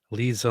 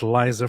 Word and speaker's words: Liza: Wait, you just you just said Lisa like like Lisa Manelli. How do you do you mean Liza? I'm not very good with Americanization of names. Is that how you pronounce that, David? Do you say Liza? I would say Liza Manelli.